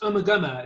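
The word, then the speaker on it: Ummagumma: I think it's called Umakuma. Is that the name of the album, maybe? It's actually pronounced Umaguma. It's one of those ones that everyone mispronounces. People think it's called Umaguma, but it's pronounced Umaguma.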